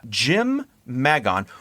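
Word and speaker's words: Jymn Magon: So Jim Magon, which I'm assuming that's how you say his name, because his name is a fucking fantasy character name. It is. Jymn. Oh, I was going to mention that. Yeah, the weirdest way to spell Jim possible.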